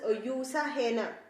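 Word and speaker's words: Jutta Heine: olympics and in olympics her main competitor was usa henna actually spelling is ju but still it is a greek name and its pronunciation is not ja it is you so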